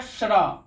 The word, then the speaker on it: श्र: और ये है श्र, तालब श हलंत जो र यानी श्र।